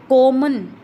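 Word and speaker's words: common: फिर है कॉमन, कॉमन, ओ पर क्या हो रहा है, ओ पर हम लंबी लेके जा रहे हैं, साउंड को लॉन्गर लेके जा रहे हैं, तो इसके फर्स्ट सिलेबल पर स्ट्रेस आ रहा है।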